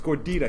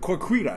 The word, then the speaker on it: gordita: I'm like, Dad, you're saying it wrong. It's gordita. He's like, corquita. No, I'm like, gordita.